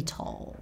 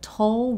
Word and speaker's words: toll: To take its toll or take a toll or take a heavy toll on something or someone. Firstly, toll rhymes with bowl. It's not toll. It doesn't rhyme with doll.